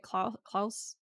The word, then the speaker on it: Clos: someone's name I forget Chloe Khloe loss close oh no Klaus oh I was like from the Umbrella Academy yeah I he yeah he he's pronounced Klaus right Klaus huh okay the guy who invented